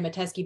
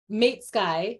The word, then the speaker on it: Mateski: name is mateski by the way you pronounced it correct mashallah people very rarely get my name correct uh what's the worst you've ever had meet Skye it's usually yeah made Sky mates guy Yes sounds like some